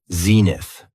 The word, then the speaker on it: zenith: The next noun is zenith. It has 2 syllables, and the stress is on the first syllable.